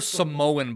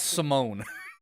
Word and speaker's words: Simone: how you mispronounce names you called her Samoan biles not Simone I called her Samoan